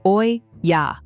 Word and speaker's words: olla: First, meet the olla, pronounced oy ya.